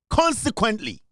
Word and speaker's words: consequently: Consequently, consequently, consequently. The O is silent. It should drop in your throat.